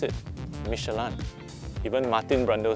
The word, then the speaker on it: Michelin: the real world and yes that's how you pronounce it michelan even martin brando says it like that in